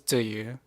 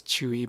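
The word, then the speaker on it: Tzuyu: Um, yeah, so my bias is Ziyu, or people like to pronounce it as Chewy, but I always pronounce it Ziyu, which is her Taiwanese pronunciation.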